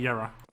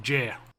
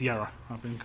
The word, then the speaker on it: Yera: It definitely should be Yera. I've had that confirmed by him that I say it right, so it's all good. The only other name I would ever call it would be like Jer. But it's Yera. It's been confirmed.